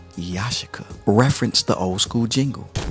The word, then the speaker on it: Yashica: joshua lenses now a lot of people say yashika but it's pronounced yashika reference the old school jingle you are